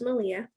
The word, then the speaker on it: Malia: So my name is actually pronounced Malia, but I always tell people that it's like Malia Obama, but I was born first.